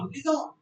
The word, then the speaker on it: liaison: क्या प्रोनाउंसिएशन होगी? लिजॉन.